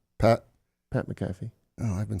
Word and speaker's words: McAfee: paper if you want is that how you pronounce that gentleman's name Pat Pat mcaffe oh I've been saying it wrong for a while what have you been saying McAfee but I only associate him with Monday Night